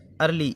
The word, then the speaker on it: early: ई का उच्चारण आ की ध्वनि के रूप में। अर्ली, EARLY, अर्ली मतलब जल्दी, तो इसमें आ की ध्वनि आ रही है।